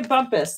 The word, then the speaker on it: Bumpus: Bumpus. That's how you say it.